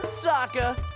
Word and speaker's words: Sokka: That's right, I'm Sokka. It's pronounced with an akka.